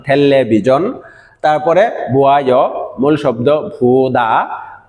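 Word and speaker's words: 텔레비전: এরকম ভাবে থেল্লে বিজন এটা আমাদের পরিচিত শব্দ কুরিয়ান উচ্চারণ ঠেল্লে বিজন তারপরে বুয়ায় মূল শব্দ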